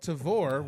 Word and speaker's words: Tavour: So I signed up for a little service called Tavor, which has recently just started distributing or do you started spell that?